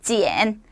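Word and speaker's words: 剪: 여기 불화자가 들어가 있는데 만약에 얘가요, 칼 도자로 바뀌게 되면은요, 발음은 똑같지만 성조가 달라지면서 뜻이 달라져요. 발음은 지엔.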